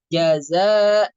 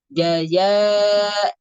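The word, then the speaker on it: جزاء: Contohnya, misalnya, harusnya kan kita membaca jaza, jazauhum, za, ya. Tapi bacanya jaya, ya, jaya, bukan, tidak ada sifat sofirnya. Ya, sifat sofirnya hilang.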